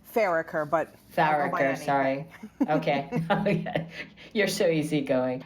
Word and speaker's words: Farricker: Is that the correct pronunciation? Farricker, but Farricker, sorry.